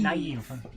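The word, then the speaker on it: naïve: It says you're supposed to pronounce the two vowels that are next to each other separately. Otherwise, my name would be Zoe. Yeah, which is actually also how French uses it. Yes. Hence, naive. Naive.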